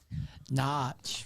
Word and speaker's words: Norwich: Leeds come from behind on Norwich, or pronounced how, Mel? Notch. Very good.